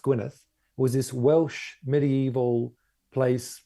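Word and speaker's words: Gwynedd: I found out later Gwyneth spelled EDD at the end pronounced Gwyneth was this Welsh medieval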